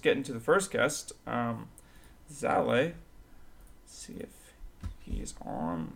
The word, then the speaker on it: Zalae: Without further ado, here is our first guest, Zalae.